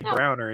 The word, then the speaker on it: browner: You just don't say the middle syllables. You just say Browner instead of brown noser.